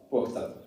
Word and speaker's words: Pokhtak: Pokhtak, the word I call the first syllable from Pokhara, Pokh, and the second syllable from Muktak, Tak. So Pokh plus Tak, Pokhtak.